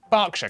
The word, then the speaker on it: Berkshire: the middle so yeah er is pronounced r berkshire clark and will hertfordshire but before you get